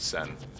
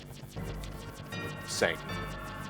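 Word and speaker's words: Tseng: I believe the T is silent on his name, so I believe it's pronounced Sen. Sang.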